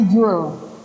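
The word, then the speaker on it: joule: gue itu satuannya Jul tulisannya jowil bacanya Jul bukan nurjazuli ya Jul Nah kalau qita2 satuannya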